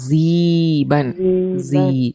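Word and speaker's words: sieben: அதுக்கப்புறம் ஜீபன். ஓகே, இந்த இடத்துல இந்த ஐ இதை கொஞ்சம் நோட் பண்ணிக்கோங்க. ஓகே, நான் சொல்ற மட்டும் நோட் பண்ணிக்கோங்க. எப்பயுமே ஐஇ வருது அப்படின்னா ஆனாவனால இ சொல்லுவோம்ல, அந்த மாதிரி ப்ரொனவுன்ஸ் பண்ணும். ஜீபன். ஜீபன். ஓகேங்களா?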